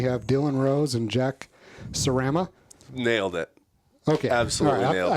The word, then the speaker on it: Sarama: But yeah, Jack Sarama.